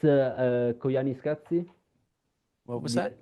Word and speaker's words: Koyaanisqatsi: No, it's Koyaanisqatsi.